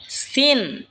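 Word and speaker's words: سين: এরপর হলো সিন। সিন জিহ্বার আগা সামনের নিচের দুই দাঁতের আগার দিকে লাগা উচ্চারণ হবে সিন।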